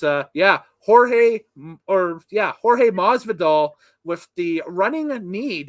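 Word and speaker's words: Jorge Masvidal: the name correct here so i got the pronunciation down on the notes so it is uh yeah jorge or yeah jorge mas vidal with the running a need the new japan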